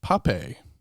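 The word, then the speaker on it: Pappé: It's a dialogue between Noam Chomsky and Ian Pape is I think how his name is pronounced, Pappe with a little asterisk, a little accent on there.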